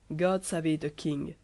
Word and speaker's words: God save the king: Chez Béranger se prononce God save the king et rime avec sauver, préserver.